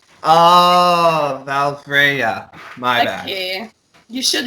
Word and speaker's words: Valfreya: And this time we have Montreal's own, please forgive me if I say this band's name wrong, Valfreya? Come on. Oh, no. Valfreya. Oh, Valfreya.